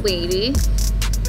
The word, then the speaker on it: Leidy: well let's just start my name is Lady um it's spelled le ity and it's a Spanish name i'm colombian and i